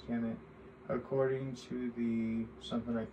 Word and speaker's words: Kemet: Ancient Egyptians referred to their homeland as Kemet, conventionally pronounced as Kemet.